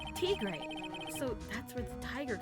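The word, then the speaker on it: Tigre: Furio Trey. Is that am I saying it right? Traay. Yeah. Furio. Traay.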